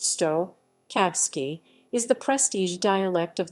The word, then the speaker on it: štokavski: cyrillic s h dikavsky pronounced stoh kavsky is the prestige dialect